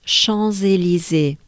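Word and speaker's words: Champs-Élysées: the two so bananas so basically you have twice the sound z right first and last z li zee and that's the ticket to pronounce chansey lizzy right now well let's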